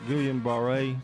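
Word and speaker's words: Guillain-Barré: Gillian Baret Syndrome.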